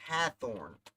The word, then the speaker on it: Hathorne: So it's Hathorne. No W, Lorne.